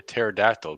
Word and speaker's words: pterodactyl: of related to that why is it you cannot hear a pterodactyl go to the bathroom oh because the p is silent bam oh my wife